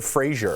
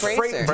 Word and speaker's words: Fraser: Is it Fraser or Frazier? I think you nailed it. It's Fraser. He changed it, right?